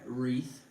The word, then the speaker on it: wreath: my cookies YouTube and tick tock here's my wreath apparently that's how you say it yes we